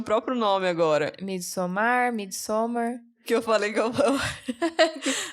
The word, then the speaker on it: Midsommar: Midsommar. Que eu falei que eu... Antes de eu ouvir pronunciar, eu não tinha lido direito o cartaz. Antes de eu assistir o filme. Aí eu achei que chamava Midosmar.